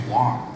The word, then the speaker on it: Wang: but I'll tell you w and WG is pronounced the same way it's Wong so uh the clothing designer Vera W she